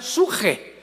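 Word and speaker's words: ψυχή: apuntarla, en el hebreo, es la palabra con P de Pedro, de Samuel, psuche, que en el hebreo se pronuncia suje, porque la CH se pronuncia en hebreo como J.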